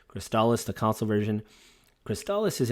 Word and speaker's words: Crystalis: in crystallis and i've heard some people online pronounce this game as crystallus but it's cristalis because that's originally how they pronounce it in